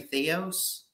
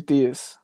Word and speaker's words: Theus: I don't want to butcher his name, but Reggie, how do you say the head coach, Reggie Theos? Reggie Theus.